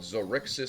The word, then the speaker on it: Xaryxi: And they will explain that, first of all, the Astral Elves hail from a faraway wild space system called Zardoz Space. and that's spelled Xaryxi space.